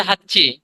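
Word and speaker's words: はち: ক্ষেত্রে নানা তারপরে আছে হাচ্চি হাচ্চি এটা যদিও আমরা বলি হাঁচি হাচি কিন্তু ওরা করে কি চটাকে একটু দীপ্ত করে উচ্চারণ করে হাচ্চি হাচ্চি হাচ্চি খাচ্ছ আগস্ট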